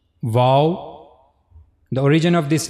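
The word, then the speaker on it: و: Then the next letter wow. The origin of this letter is circling the two lips without meeting completely means your lips should not meet to each other but you have to circle them.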